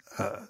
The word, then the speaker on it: Alþingi: How do you pronounce it? Do you know? Alþing. I should know this. It's Alþing.